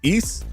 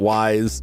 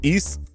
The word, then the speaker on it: Ys: The pronunciation is east like geese. It's not wise. It's not ease. It's east like geese.